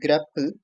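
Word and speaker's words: grepl: So there is one function called as grapple. Gr that's how I pronounce it.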